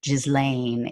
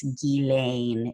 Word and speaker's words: Ghislaine: It's not Ghislaine, it's Ghislaine is how you officially pronounce it.